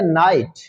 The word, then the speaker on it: night: ऐसे हम अगर लफ्ज देखते हैं नाइट, NIGHT, नाइट, तो नाइट में भी जी साइलेंट।